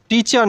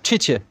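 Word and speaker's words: teacher: যে বাংলায় যে ঠ আছে সেই ঠয়ের মতো উচ্চারণ ঠি, আমরা টি বলবো না। যেমন টিচার না, ঠিচে।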